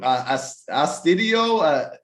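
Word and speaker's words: Astudillo: That is 5 plays of the day from us and the team for how do you pronounce his name? Astudio.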